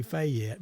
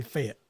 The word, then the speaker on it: Fayette: to come to Fayette Alabama so I mean it's spelled f-a-y-e-t-t fat yet but it's really fit yeah it fit Alabama failed f-e-t so yeah